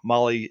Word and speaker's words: Mahle: And you guys know Molly is spelled Mahle.